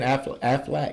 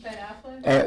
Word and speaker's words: Affleck: Was it Ben Affleac? Is that how you say his name? Ben Affleck.